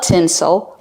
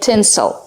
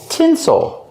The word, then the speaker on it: tinsel: And remember the pronunciation. Tinsel. Not tinsel, but tinsel. Because we put the stress on the first syllable, the second syllable is more relaxed. Tinsel. Like April and pencil. We don't say April, we say April. We don't say pencil, we say pencil.